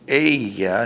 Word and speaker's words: ella: And she is ella. Notice the double L is pronounced like a Y.